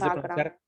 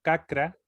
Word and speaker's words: chakra: Chakra, En vez chakra, en vez de pronunciar cacra, se pronuncia chakra.